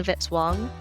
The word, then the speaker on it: Vitz-Wong: Music by Kevin Vitzwang rhymes with hit song.